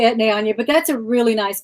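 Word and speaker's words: Etienne Aigner: I say Etne Anye, but I could be wrong.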